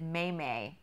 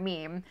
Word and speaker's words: meme: staff meeting I was trying to say meme and said it wrong and I said may may and our worship leader